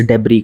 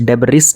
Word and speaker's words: debris: रहा है ना वह स्पेस डाबरी का इसमें साइलेंट होता है स्पेस डिब्रिस नहीं होता है और ये हमारे